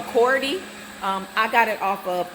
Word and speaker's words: Coredy: It's called a cord. Let me say it right. Hold on. There we go. A Coredy.